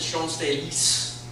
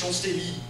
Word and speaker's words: Champs-Élysées: amounts of lamplight, and I pronounced it Champs-Élysées with the S, and I had 50 to 100 comments saying, "There's no S, it's Champs-Élysées," and even some people were like, "There's no day, it's like Champs-Élysées."